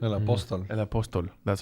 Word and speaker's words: El Apóstol: political satire film called El Apostol. Is that how you say it? El Apóstol.